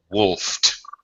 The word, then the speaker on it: wolfed: right right wolf unvoiced unvoiced past tense pronunciation is g to sound like a t wolfed that's right he wolfed